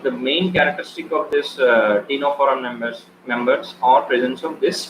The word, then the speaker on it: Ctenophora: Okay, and then next is Ctenophora. C is silent here.